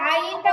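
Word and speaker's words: عين: না প্রথমে উচ্চারণ শুনেন প্রথম উচ্চারণটা হবে আই এই আই বলার পরে এটাকে টেনে বলতে হবে আইন আইন আইন আইন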